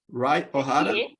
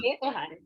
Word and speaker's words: Rai Ohara: Rai, my pronunciation is correct. Rai Ohara? Hie Ohara? Hie Ohara, yes.